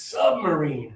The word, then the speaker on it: submarine: So the first one here, I'm going to say it for you, is submarine. Submarine. Right? I put the stress under that first syllable to try to help.